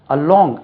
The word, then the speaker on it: along: sound வருதோ சரி right அலாங் அலாங் உச்சரிப்போம் அலாங் அலாங் என்று உச்சரிக்க கூடாது அலாங் பெனடிக் சிம்பல்ஸ்ல பாருங்க இப்படி இருக்கும் அலாங் எல் எல்க்கு தான் ஸ்ட்ரெஸ் அலாங் அலாங் இப்படி இருக்கும்